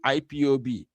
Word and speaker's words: IPOB: So IPOP, not we don't usually call it like that. We call it IPOB indigenous people of Bafra. Even not P.